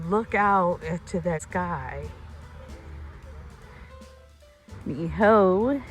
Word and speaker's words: Niihau: Now, as you look out to that sky, Niihau is out there. That's proper pronunciation.